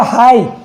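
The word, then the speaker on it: high: ऐसे हो गया हाई। हाई यानी ऊंचा, ठीक है। इसमें भी लास्ट में जी एच आ रहा है तो ये साइलेंट हो जाता है।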